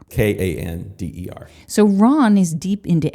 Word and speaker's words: Kander: Kander, absolutely. It's actually not spelled like Candor. Kander.